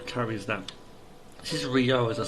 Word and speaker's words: Ryo: Because you know Ryu carries that. This is Ryo, as I say.